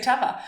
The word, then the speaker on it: Teva: You just had to pronounce their company name right. Just had to say Teva.